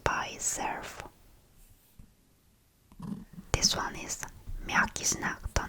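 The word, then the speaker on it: мягкий знак: this letter doesn't have its own sound when pronounced by itself. This one is Mjaki-Znak.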